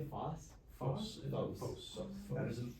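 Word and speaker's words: φῶς: Phos. Phos. That's an omega, so it's gonna make that long O sound.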